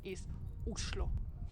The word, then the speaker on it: Oslo: actually in Norwegian and the right way to pronounce the name of the capital islo Oslo is a great